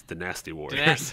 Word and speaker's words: Dynasty Warriors: You're mispronouncing it. It's Dynasty Warriors.